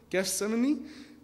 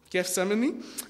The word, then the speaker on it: Gethsemane: you say it guest simon mini gift seminar gethsemane gethsemane and he said to his disciples see you